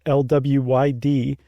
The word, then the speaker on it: Mari Lwyd: known as the Mari Lwyd, which is not spelled like it sounds, at least not the second part. It's Lwyd, and that is Welsh.